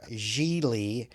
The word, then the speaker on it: Gigli: to our main character jeely sounds like really is what he says when he's telling people how to pronounce his name played by ben affleck